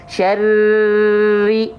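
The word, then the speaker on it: شَرِّ: Syarri itu baru ditahan. Nggak boleh ro ditahan ketika bertasydid, tapi ditekan saja. Ya, ditekan saja. Contoh, syarri, syarri.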